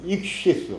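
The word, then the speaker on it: ἰχθύς: 헬라어인데이 헬라 헬라어 단어 단어가 익투스라고 많이 영어로다가 그 번역이 돼 있어요. 근데 그 원래 이제 헬라어 발음으로다 익시 스 아니면 this스 그래서 스 땡큐 할 때 그 발음 그 발음이 나는 거거든요.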